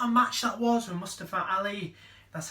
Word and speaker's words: Mustafa Ali: What a match that was with Mustafa Ali.